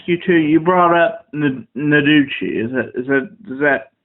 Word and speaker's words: Noguchi: You brought up Noguchi. Is that pronouncing it correctly?